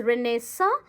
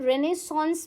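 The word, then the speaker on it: renaissance: आप इसको दो तरीके से प्रोनाउंस कर सकते हो। इट्स प्रोनाउंस एज़ रेनेसा और आप रेनेसों्स भी प्रोनाउंस कर सकते हो।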